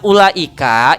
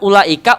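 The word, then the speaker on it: أولئك: Siapapun yang mengajarkan Al-Quran, ketika ada kalimat ulaika, u-nya dibacanya nggak dibaca gitu, seolah-olah nggak ada, padahal ada tulisannya ulaika.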